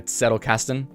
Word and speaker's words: Zettelkasten: So anyone says the Z in Zettelkasten is pronounced more like a TS, like a Zettelkasten.